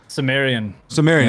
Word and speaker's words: Sumerian: Sumerian, yeah.